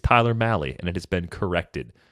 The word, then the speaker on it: Tyler Mahle: apologies for the 100 million times i said tyler molly over the years that was one that i just flat out had wrong so thanks to the pronunciation guide it's tyler malley and it has been corrected what do you